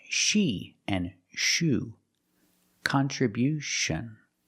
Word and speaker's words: contribution: We change the stress to the first and third syllable. Contribution. contribution. The first and third syllable. Stress the first and third syllable. Contribution. And because we stress the first syllable, the sound changes. It's not con. It's not the short sound. It's con. Con. We use a short a sound like hot and stop.